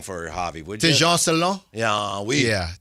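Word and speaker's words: Tidjane Salaün: Tejan Salon. Yeah, Tejan Salon.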